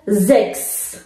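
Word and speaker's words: sechs: خب اینجا پس میشه زکس. س، ها و اس در آخر کلمه به معنی شیش هستش اینجا و به صورت ایکس تلفظ میشه.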